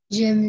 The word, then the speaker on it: j'aime: Bisa, tapi bacanya j'aime ya.